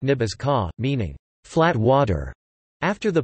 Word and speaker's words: Ní Btháska: Nebraska's name is derived from transliteration of the archaic Oto words Nebraski, pronounced Ibazke, contemporary Oto Nebraj, or the Omaha Nebathoska, pronounced Nibazka, meaning flat water, after the Platte River that flows through the state.